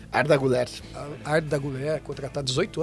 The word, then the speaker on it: Arda Güler: O jogador Arda Güler, assim que pronuncia? Arda Güler.